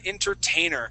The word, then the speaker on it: entertainer: differently so inner uh Entertainer uh instead of pronouncing that uh that t we actually say inner entain so it's more like